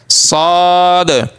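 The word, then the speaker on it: ص: সদ সদ। জিহ্বা নিচের যে সোজা জিহ্বার আগার বরাবর যে দাঁতগুলো আছে নিচের চোয়ালে, ওই দাঁতগুলোর ওই পেটের সাথে লাগিয়ে দিব মাঝ বরাবর দাঁতের জিহ্বার আগাটা, তাহলে উচ্চারণ হয়ে যাবে।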